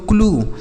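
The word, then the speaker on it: clue: ब्लू सी एल यू ई इसे पढ़ेंगे दोस्तों क्लू सी एल यू ई क्लू आर यू ई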